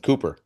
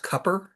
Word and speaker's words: Cooper: Well, I think or North Carolina for that matter with Cooper. Yeah. Yeah. It's, you know, it's actually pronounced Cupper.